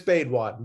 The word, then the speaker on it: Baidwan: It's Baidwan, but Baidwan, okay.